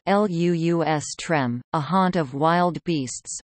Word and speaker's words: lustrum: the reign of Vespasian the word should not be confused with the identically spelled but differently pronounced lustrum Lu us trem a haunt of wild